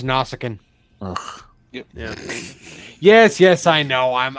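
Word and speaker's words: Nausicaan: or a Romulan did I say that right nasikan uh it's pronounced nausicin yes yes I know I'm I'm such a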